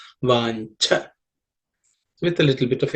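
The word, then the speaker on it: वाञ्छा: In the fourth line, vancha. This in and cha, this cha is the second letter in the cha varga or cha class of consonants, so it has to be aspirated. Vancha with a little bit of air.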